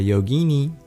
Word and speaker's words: yogini: Or a yogini. I love the feminine term of yogi. Yogini rhymes with Houdini.